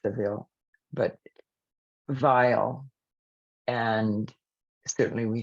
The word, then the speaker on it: Savile: I mean, it is pronounced Seville, but vile, and certainly we think of that word revile, and that's exactly what happened in his case.